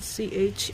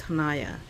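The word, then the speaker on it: Chania: particularly in hanaya so it's spelled c h a n i a and I always say ch but we were told that it's hanaya so it's a silent sea hanaya so I assume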